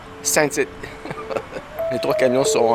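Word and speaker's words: Saint-Étienne: on est à saint-etienne ça se prononce saint tite et les trois camions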